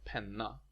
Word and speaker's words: penna: Penna is pronounced penna, and the long N is more similar to the English word penknife than the word penny.